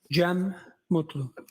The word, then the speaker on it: Gem Mutlu: Jeem Mutlu.